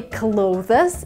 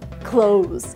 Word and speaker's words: clothes: So in order to learn how to pronounce this word correctly, remember a word that means to close? Basically the same pronunciation, not clothes, clothes.